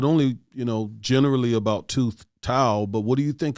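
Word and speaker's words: Thao: I think it is it how do you pronounce this, Chloe? Tao? I think it's two Tao. All right, Tao.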